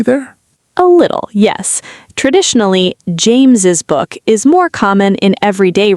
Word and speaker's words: James's: Traditionally, James's book is more common in everyday writing, especially in speech, because we usually do pronounce the extra S sound. James's book. We hear an extra syllable there.